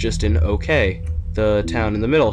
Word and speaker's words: Oque: them spell okay o q u e and pronounce it okay now the way this works is that each